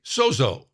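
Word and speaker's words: σώζω: It's pronounced, I've learned this week, sozo.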